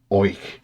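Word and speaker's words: Oich: lock is fed by the river and I hope it pronounces right which is spelled o i c h which in turn is fed by the lock oink now the Northern end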